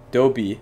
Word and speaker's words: THE B: boys fandom name yeah so Adobe it's pronounced like Dobby yeah so pretty much